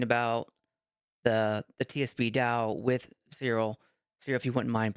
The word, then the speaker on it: Cyril: Can And you pronounce your I'm name one more time? Cyril, if you want to say it Cyril. right. But you can say Cyril.